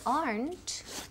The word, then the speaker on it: aren't: Remember, when we say aren't, tiene una sílaba. So don't say aren't, ni aren't, ni aren't. No, es típico de Spanish. We want aren't. Una sílaba. Aren't.